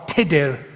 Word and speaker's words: Tudor: The style Henry Tudor, or Tudor in the correct Welsh pronunciation, was only used by those who sought to mock his background.